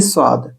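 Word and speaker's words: ص: এবার আমরা চলে এসেছি সোয়াদ। সোয়াদের উচ্চারণ মোটা দন্তস্ব ভারী ভাবে বলা হয়।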